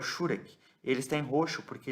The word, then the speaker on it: Shurek: Então, a pronúncia tônica é na primeira vogal, tá?